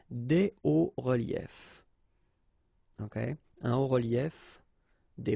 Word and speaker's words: hauts reliefs: then it's quite simple, because S and S, but then we don't pronounce them here. Des hauts reliefs. Okay, un haut relief, des hauts reliefs.